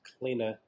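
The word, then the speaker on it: kline: The Greeks would pronounce it klina, but you know the term recline comes from this.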